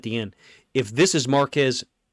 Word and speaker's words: Marquez: If this is Marquez Marquez, apparently is how you pronounce it, Valdes-Scantling against Mike Hilton.